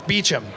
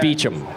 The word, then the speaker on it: Beauchamp: It's Beecham. See, but it's spelt like Beauchamp. Yeah, it sucks. It's French and it's English, and every time... You know. It's the simple ones that fuck me up, though. So it's just Beecham.